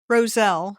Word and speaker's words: Roselle: Roselle. Roselle.